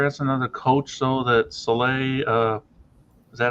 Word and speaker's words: Saleh: That Saleh. Is that how it's pronounced? Salah.